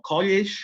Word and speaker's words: college: La doble L no le pronunciemos como la doble L en español, sino pronunciémosle como que fuera una sola L igual, ¿no? College, o sea, no college como si fuera, como se hace la doble L en español, pues, ¿no?